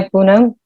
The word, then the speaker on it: Poonam: on to vimpo hi poonam uh unam first of all thank you for pronouncing my name absolutely correctly you're probably one of the rare people who've taken my name in the first four correct so moving on from